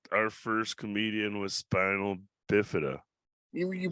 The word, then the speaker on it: spina: You're not our first comedian with spinal bifida. You pronounced it wrong. Come on. If I'm the second guest, you got to pronounce it right. Jesus Christ, Duante. It's spina, not spinal. There's no L.